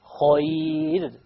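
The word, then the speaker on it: خير: And if it's a ya, then it will be light. Khayr. We don't say khayr. This is a very common mistake, by the way. Khayr. No. Khayr. Light, because there is a ya before it.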